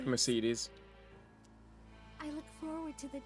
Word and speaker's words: Mercedes: Mercedes. Mercedes. You know, that's how you say it. They say it like French people do.